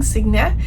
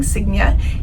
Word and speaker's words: Sigyn: Today I am going to tell you all about our embarkation on the beautiful Viking Sigyn.